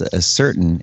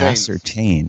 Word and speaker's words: ascertain: language there's also another another word that you pronounced as a certain it's actually pronounced at ascertain yes I always know